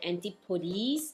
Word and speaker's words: Antipodes: To be honest, previously I really don't know how to pronounce this name, Antipodes or Antipodes.